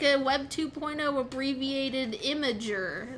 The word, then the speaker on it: Imgur: a lot of people pronounce it Imgur. I don't. I don't What? think that's correct, but a lot of people do. I just assumed that it's like a Web 2.0 abbreviated Imager, like Yeah, like Tumblr I think it's is Imager.